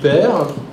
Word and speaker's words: Hippert: À ses côtés, Père, pareil, je le prononce bien? Oui, c'est bien.